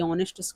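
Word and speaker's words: honest: यहां पर भी ये एच है साइलेंट और ये ऑनेस्ट का भी एच साइलेंट।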